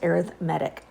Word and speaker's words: arithmetic: that is spelled like arithmetic but it is pronounced arithmetic so arithmetic sequences is what what we're going